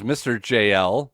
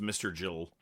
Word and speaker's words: Mr. JL: Well, we go right into Eddie Guerrero versus Mr. JL. So, I don't know. Take that for what it's worth. Eddie wins. Jeans on the Ramp with Luger and Jimmy Hart. Pronounced Mr. Jill.